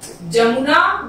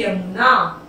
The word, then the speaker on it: यमुना: जमुना, जमुना का सही उच्चारण होता है यमुना।